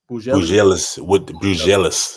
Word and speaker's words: Buzelis: Buzelis with G League Ignite.